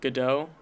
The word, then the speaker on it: Gadot: Yeah, I guess overall, and Gal Gadot, if I'm pronouncing Gal it right. Gadot, yep.